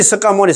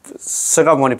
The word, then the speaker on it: 석가모니: 혹시 혹시 습까모니 석가모니 있잖아. 이렇게 습까모니 불 이렇게 증언하시는 분들은이 기회에 아 항상 있잖아요. 서가모니 부처님 한다 부를 때도 서가모니 부처님 서가모니 부처님 부르고 정관하실 때도 석가모니불 석가모니불 그래 하지 말고 서가모니불 서가모니불 이렇게 하시면 될 것 같습니다.